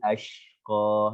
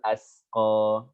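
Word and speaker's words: الْأَشْقَى: Nah, ini hati-hati ini shin di sini nih. Ini banyak juga saya kesalahan yang saya dengar dari beberapa mahasiswa ketika membaca atau menyetorkan surat ini dibaca dengan sin illal asqa. Perhatikan, ini shin. Berarti apa? Illal ashqa.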